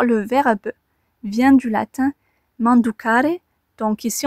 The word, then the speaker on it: manducare: D'ailleurs, le verbe vient du latin manducare, donc ici on entend bien le man, comme dans manger.